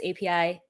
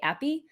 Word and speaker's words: API: cover hard-hitting topics like how do you pronounce api you can see the vast majority 82 percent do pronounce api api but i think the 12 might be coming from latin america or i think folks in western europe might say appy so if you're going